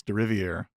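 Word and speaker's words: Deriviere: His last name is actually said Derivier? exactly how you think it would be. It's Derivier. It's nothing. He even says that his first name is the. So the last part is spelled exactly the same as the first one, but it's pronounced differently.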